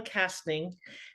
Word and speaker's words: Kastning: fascinating really truly interesting woman with me Gail casting did I pronounce that right yeah you did that's awesome